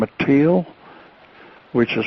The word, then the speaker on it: Teel: And I met his brother, Thon, Thonn, and his brother, Donn, Don, and this lovely lady by the name of Teal, which is spelled Teel.